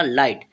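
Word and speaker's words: light: क्या होता है टी जैसे लाफ में हमारा जीएच साइलेंट रहता है ऐसे ही हमारा लाइट में भी जीएच साइलेंट रहेगा और टा से हमने टी बनाया ठीक है तो इसे हम क्या पढ़ा लाइट ठीक है लाइट का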